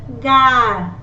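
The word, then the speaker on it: gare: So it is G, gar. Gar means station.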